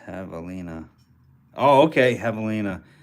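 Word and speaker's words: javelina: thing is a sweet doggy pronouned to have pronounced Havalina oh okay Havalina it's a wild pig like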